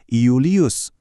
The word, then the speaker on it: Iulius: Berarti nama-nama Romawi yang terkenal kayak Julius itu awalnya ditulis pakai huruf I dan dibacanya beneran tegas Iulius.